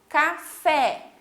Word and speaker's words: café: A outra, café. Então, também o fé a gente fala com mais intensidade, com mais força.